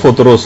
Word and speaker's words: فطرس: فرشتہ تھا فطرس کا، فطرس۔ اچھا، اس کو الگ الگ طریقوں سے لوگ پکارتے ہیں، لیکن اصل میں اس کا جو تلفظ ہے وہ فطرس ہے۔ اچھا، اس فرشتے کا